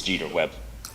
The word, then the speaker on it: Jeter Webb: to say mrs corybo you got my last name wrong it's jeter webb i just said that